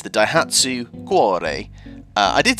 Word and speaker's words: Cuore: by Adrien Perez that actually it's quare it's Italian for heart so it's the dhatu quare uh I did say